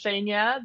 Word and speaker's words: Zhenya: oh thank you so much you are actually pronouncing it perfect so it's shenya the same as you just pronounce it perfect